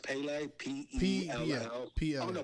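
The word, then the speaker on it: Pelé: It's pronounced Pele, P-E-L-L.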